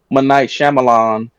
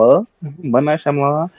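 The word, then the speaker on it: M. Night Shyamalan: then J was like I think it's pronounced ight shamalan he was like no he pronounced it m that's how you pronounce it it's m m night shamon and we were bowling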